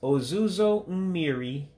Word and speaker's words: ozuzo mmiri: So you just pronounce them the way you see it. So it's ozuzo mmiri, for rain. And again, remember the I's sound like E's in Igbos.